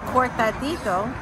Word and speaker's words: cortadito: This has got the cortadito, right? Yeah, that's how you pronounce it.